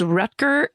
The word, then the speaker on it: Rutger: Even though his name is spelled Rutger, I watch people pronounce it Rutger.